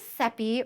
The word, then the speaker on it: Seppi: So my name is Seppi, rhymes with Peppy, as I like to say.